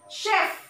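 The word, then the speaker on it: chef: হয়নে এইটো মেচিন এইটো চি এইচ যদিও তোমার উচ্চারণ হয় শ। শেফ, শেফ মানে কি হয়, প্রফেশনাল কুক হয় না, শেফ।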